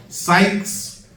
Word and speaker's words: Sykes: Sykes, not like psych, I ain't mean it. Not like that type of psych. But S-Y-K-E. S-Y-K-E. Sykes, S-Y-K-E-S.